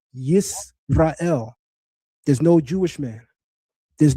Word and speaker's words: Israel: And guess what he don't pronounce it as? Yasharallah. He literally writes in the Medu Neter, Yisrael.